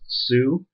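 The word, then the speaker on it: Sioux: down correctly ly s IO ux but it's pronounced Sue and the Sue nation was a group of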